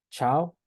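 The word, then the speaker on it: tchau: Después la TH se pronuncia como che, ¿sí? Entonces tenemos la palabra, de hecho solo lo he visto en esta palabra, chao, chao, ¿sí? Chao, que es adiós.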